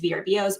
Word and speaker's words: VRBO: You can do that, Verbos. You can do that. How many of you? Yeah, I know. I always say it wrong and then I hear the commercial. I'm like, Verbo.